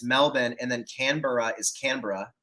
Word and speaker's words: Canberra: It's Melbourne, and then Canberra is Canberra.